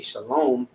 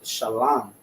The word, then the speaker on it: shalom: tried to tell me shalom, and I said, nah, that's not the proper way to say shalom. It's shalom. There's no vowels in the ancient Hebrew, right?